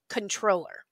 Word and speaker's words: comptroller: say linguistically speaking right the correct term is controller even though it's spelled with a c-o-m-p-t right uh but you